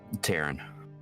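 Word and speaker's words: Taryn: Taran. Taran. Can you spell that for me?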